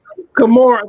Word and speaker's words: Gamora: Pronounce her name for me. Her name is Gamora. Gamora, thank you.